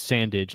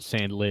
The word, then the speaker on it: Sandage: It's Sandage, not Sandledge.